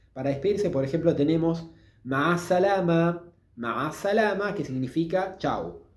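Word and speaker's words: مع السلامة: despedirse por ejemplo tenemos ma salama ma salama que significa chao ma salama ma salama todo junto ma salama es el equivalente al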